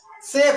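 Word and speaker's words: chef: C plus H हो तब उसको सभी बोल सकते हो। यहां पर देखिए जैसे सीख, सीख मिस होता है ठाठ। सूट, सूट मिस होता है ढलान। सायले, सायले मिस होता है बंगला। सेफ, सेफ मिस होता है महाराज। और सैंडलियर, सैंडलियर मिस होता है झूमर। अब यहां पर सी एच का ध्वनि स है।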